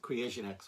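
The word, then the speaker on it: KreationX: They spell it with a K. It's K-R-E-A-T-I-O-N-X. Creation X, all one word.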